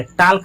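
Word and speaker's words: talk: Please टॉक टू me. Please यानी कृपया टॉक। इसमें एल का उच्चारण नहीं होता है। टी ए एल के टाक नहीं टॉक।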